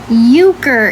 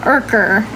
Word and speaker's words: Urker: Okay, so Euchre is how his name is pronounced. So it's not Urker, it's Euchre. The R is silent.